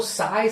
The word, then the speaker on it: psi: The pronunciation is PSI. इट इज नॉट PSY. It is not Gangnam Style Singer PSY. It is not like that.